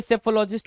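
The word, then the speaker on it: psephologist: क्या हो गया भाई सेफोलॉजिस्ट हो गया चुनाव विश्लेषक सेफो जहां पर पी क्या है साइलेंट है सेफो लॉजिस्ट सेफोलॉजिस्ट क्या होगा पी साइलेंट होगा एस से स्टार्ट करते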